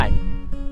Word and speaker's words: mime: মাইম, এটা উচ্চারণ মাইম, মিম না।